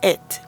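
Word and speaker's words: את: ya que Esta partícula se escribe con la primera y la última letra del alfabeto hebreo, alef y tab, y se leen it, insinuándonos que él creó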